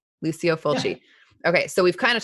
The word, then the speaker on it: Lucio Fulci: So is it Lucio Fulci? Is that how you say his name? Lucio Fulci.